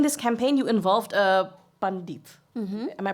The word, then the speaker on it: Pandit: In this campaign, you involved a Pandit. Am I pronouncing this right, Pandit?